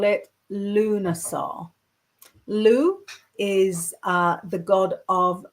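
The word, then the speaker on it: Lugh: a little bit because it's so hard to pronounce. So I know um to call it Luna. Lou is uh the god of many skills.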